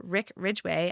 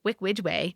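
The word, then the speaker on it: Rick Ridgeway: Every time I practiced it, instead of Rick Ridgway, I said Wick Widgway.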